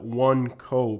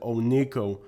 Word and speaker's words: Oneco: and by the way many people call it one Co because originally it was called one company however today most people pronounce it Ono the pronunciation of one Co still exists and